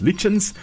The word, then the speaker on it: lichens: Well, these are lichens, also sometimes pronounced lichens, which consist of more than just one species of organism living together.